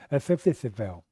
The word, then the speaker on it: Ahithophel: Almost said his name wrong. Ahithophel.